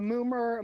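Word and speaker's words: Mummer: Uh, Moomer. Let's see. Now we are on Oh, is that how you say it? It's pronounced moomer.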